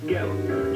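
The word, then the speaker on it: Goettl: and has fewer breakdowns yeah it rhymes with cattle except it starts with the g and it's built really weird gallon g-o-e ttl we'll keep you cool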